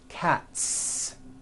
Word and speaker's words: cats: you another word cat cat ends with an unvoiced t t one cat two cats again the s ending is unvoiced cats now this also goes